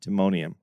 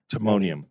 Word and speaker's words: Timonium: it's it's it's Baltimore area but it's Tim Timonium Timonium you just said it I didn't know if